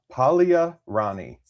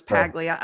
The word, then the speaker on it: Paglia: It's spelled like Paglia. The G though. Yeah, that's what I wanted to say was Pagia.